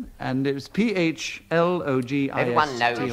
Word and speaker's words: phlogiston: I'd like to pronounce it phlogiston because that is the way I believe in which it was said in the olden days.